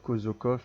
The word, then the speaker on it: Kodzokov: Bon ça peut se dire Kozokov ici parce qu'en français quand il n'y a qu'un seul S ça fait un Z. Il y a deux voyelles. Mais en fait ça s'écrit avec un D, Z, Kozok. Mais c'est pas grave, mais